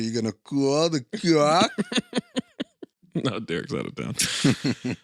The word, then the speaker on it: Koch: It's spelled cock. Oh. K-O-C-H. But I think it's Koch.